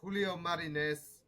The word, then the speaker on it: Julio Marines: And I've got Julio Marines all the way from Texas. Julio, did I pronounce that correctly?